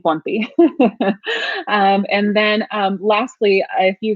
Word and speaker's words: Ponti: And you pronounce my last name Ponti.